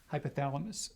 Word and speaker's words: hypothalamus: epithalamus and pituitary my my physiology professor said the proper pronunciation is hypothalamus so yes the hypothalamus and